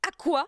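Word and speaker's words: Aqours: Ils avaient sorti Aqua. J'étais là, genre, Aqua Ouais, à course. Oui, qui se prononçait Aqua. Ouais. C'est écrit à course, mais ça se prononçait Aqua.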